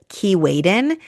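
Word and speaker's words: Keewaydin: Another fun boat day is going to visit the island of Kiwen. This is spelled K E W A Y D I N.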